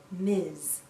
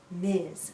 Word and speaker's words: Ms: we pronounce this as Miz Miz sounds like a z at the end Miz a woman can choose